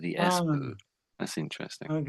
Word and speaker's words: SBU: Esbu. Esbu. Esbu. Yeah. So I tried to copy that. I just said the esbu. I said the esbu.